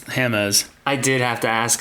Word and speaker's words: Hammes: that but you have now you guys can't pronounce my last name it's hamz I did have to ask him the proper pronunciation it is hamz right not hams it's hamus hamus yeah and see I don't